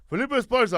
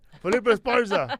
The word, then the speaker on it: Felipe Esparza: Felipe Esparza. I fucking said it right. Felipe Esparza.